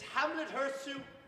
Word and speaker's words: Hamlet Hurtssue: to make Good sir, I ask that you pronounce my name correctly. My name is Hamlet Hurtssue.